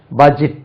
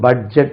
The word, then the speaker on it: budget: budget அது budget சொல்லக்கூடாது. budget adjustment adjustment D உச்சரிக்க கூடாது.